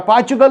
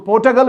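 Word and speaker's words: Portugal: और इसको पोर्टुगल भी पढ़ते हैं और पोर्चुगल भी पढ़ते हैं, दोनों प्रोनाउंसिएशन इसकी पोर्टुगल की है।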